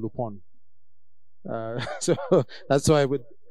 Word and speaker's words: Lupin: series was called some people are calling it lupine uh but it's not Lupine it's l-u-p-i-n but that's not the pronunciation so people are getting it quite off